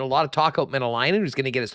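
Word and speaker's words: Mäenalanen: Yeah, well, when you have to research how to pronounce a guy's name, that usually means he's doing something right? So it is Saku Menelainen.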